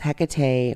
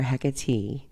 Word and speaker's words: Hecate: birth to the goddess Hecate or hecatee both of which pronunciations exist just as her name